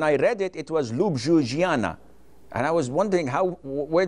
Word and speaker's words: Ljubljana: Slovenia, their capital was Ljubljana. When I read it, it was Ljubljana. And I was wondering where did the J go? So in some countries, the J is pronounced as I.